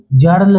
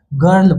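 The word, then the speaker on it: girl: लेकिन यहां पे जर्ल नहीं है क्योंकि ये एक्सेप्शन है जी आई आर एल है ना तो यहां पे ये जर्ल नहीं पढ़ेंगे इसको इसको हम लोग क्या पढ़ेंगे गर्ल पढ़ेंगे ये याद रख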